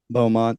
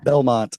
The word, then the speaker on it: Belmont: She's going to uh college there at the uh Bowmont, I think the name of the college. Belmont. Yeah, Belmont is how you say it.